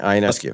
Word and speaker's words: Ionescu: You guys welcome back an old colleague, Alex Ionescu. Am I pronouncing it right? Yeah, Ionescu.